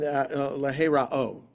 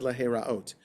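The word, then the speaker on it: להראות: And the angel of God did not appear again to Manoach and his wife, and leherao. I said leheraot. Leherao. The hey is silent, but it still means to appear.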